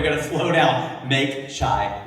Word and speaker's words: chai: not call it Make Chai Not War. He mispronounced it. He called it Make Chi Not War.